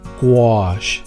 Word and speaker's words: gouache: this Hine acryla gouache say it like this gouache it's kind of fun to say it's a